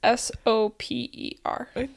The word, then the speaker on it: Soper: Well, that's what I thought too, like soap. And it's kind of ironic because it's typhoid. Oh, no. But it's S-O-P-E-R. You still pronounce it Soper?